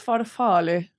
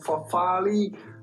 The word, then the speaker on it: farfalle: So how do you go about pronouncing this name with the typical Italian pronunciation? No, it's not farfalle, but rather farfalle.